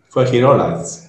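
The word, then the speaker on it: Fuengirola: She lives in Fringilola. I'm not very good at pronouncing that name, that word, but she lives in Fringilola. Fringilola, perfect, yeah.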